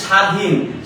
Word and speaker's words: স্বাধীন: শব্দের শেষে যদি ব ফালা থাকে তাহলে ব এর উচ্চারণ হয় না। যেমন স্বাধীন স্বাধীনে আমাদের ব এর উচ্চারণটা নাই।